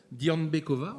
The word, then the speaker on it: Dianbekova: Dianbekova, c'est comme ça qu'on dit. Est-ce que vous êtes là, Dianbekova?